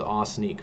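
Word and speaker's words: Ossineke: It should be 2 syllables as well. Osneek was how it was. We did a pronunciation book. We started to last year, and I asked Northern Michigan, how do you pronounce this one? And pretty much everybody said it's like awe and sneak at the same time, 2 syllables. from native northern Michiganders. So I'm rolling with awe sneak from now until forever.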